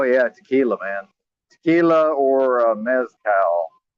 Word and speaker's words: mezcal: Tequila or mezcal. Mezcal, actually, I guess is how it's pronounced.